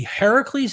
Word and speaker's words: Heracles: However, even other critical scholars think that Heracles, which is the Greek pronunciation, which means the older version of Hercules, influenced the biblical Samson story.